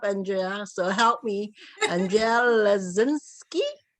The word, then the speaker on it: Leszczynski: No, I like to definitely always pronounce everyone's name, so please say it for me. Okay, it's Leszczynski. Leszczynski.